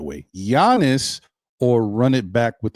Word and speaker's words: Giannis: Let me pronounce his name the right way. Giannis, or run it back with the new coach.